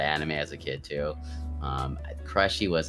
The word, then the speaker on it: Krushee: And it was supposed to be named Krushee, but everyone fucking called me Krushee. I was like, fuck, I guess I'm fucking Krushee now. But it was actually supposed to be pronounced Krushee, but it's all good.